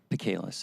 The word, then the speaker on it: Bacalus: Bacalus. It rhymes with Chehalis.